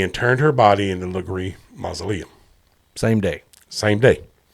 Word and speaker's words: Legare: Yeah, it's not Legare. It's Legree. It looks exactly like Legree until I was like, no, it's Legree.